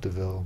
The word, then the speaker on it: De Vil: v i l yeah it's actually just devil and they pronounce it DeVille I thought it was